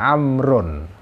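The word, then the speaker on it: عمرو: sekali untuk diketahui ya kalau kata Oma Rain rok-rok setelah rok gak ada wow ya itu bacanya Umar tapi kalau setelah Road dawu itu bacanya amrun jadi bisa sahabat Amr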